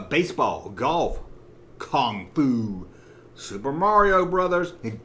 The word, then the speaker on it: Mario: golf kung fu super mario brothers and don't you ever ever say mario it's not mario it's not m-a-r-y it's mario i know i'm not